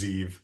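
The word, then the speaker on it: Ze'ev: But like with Lezak, it is being pronounced a certain way, and it's usually being pronounced Zeev.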